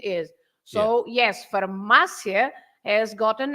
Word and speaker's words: farmácia: But so if you say queria, is also another yes, James, but not farmácia because there is an accent, right?